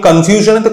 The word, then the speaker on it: confusion: তো এরকম ভাবে যদি আমরা ভাবি, যেমন কনফিউশন, CONFUSION, তাই আমি মিশ্রণ উচ্চারণ করলাম। এখন আমি কনফিউশনেতে কোথায় স্ট্রেস দেবো, সাউন্ডটা এক্স্যাক্টলি এরকম শুনতে লাগা উচিত, কনফিউশন। তো আমি FU বা F এর ওপরে আমি স্ট্রেস দিচ্ছি, আমি কিন্তু কনফিউশন বলছি না।